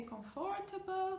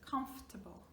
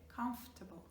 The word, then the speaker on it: comfortable: So here, we do not pronounce the FO, it's comfortable. Okay, comfortable.